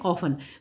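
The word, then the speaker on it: often: Next question देखिए, ऑफन, हम इसको ऑफ्टन नहीं पढ़ते, इस वर्ड को हम इसको पढ़ते हैं ऑफन। तो इसमें हमारा जो साइलेंट लेटर हो गया वो हो गया T।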